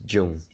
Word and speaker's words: Zhang: one two three fourth the name here uh is zhang you pronounce jung okay yeah it's jung i got a short